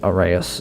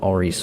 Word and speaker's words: Aras: on it's like it's it's Aras, not Oris or anything like that cuz you know, autism.